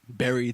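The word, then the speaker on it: Berry: this is Murdoch and the great Barry the gnome but spelled like strawberries yes he is quite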